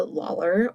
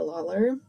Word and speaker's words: Lawlor: a Mortal Girl by Andrea Lawlor or Andrea Lawler. No, it can be pronounced either way.